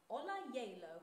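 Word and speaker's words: Ola Gjeilo: the Norwegian contemporary composer Ola Jalo, I believe is how you say it. But first, not J-Lo. Not J-Lo.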